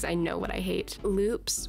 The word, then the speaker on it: Lupe: know what I hate Loops which are not pronounced Lupes like I thought they were okay Loops